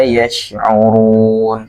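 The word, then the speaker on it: يشعرون: Memiliki sifat tebal ketika pengucapannya. Yash ya, yash. Walakin la yash'urun. Seperti itu. Maka tidak bisa ketika dibaca seperti huruf sin.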